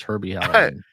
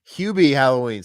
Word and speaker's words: Hubie Halloween: Where's Herbie Halloween? Hubie Halloween.